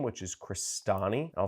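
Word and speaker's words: Crestani: click search for my last name which is crostini I'll spell that out free CR est a and I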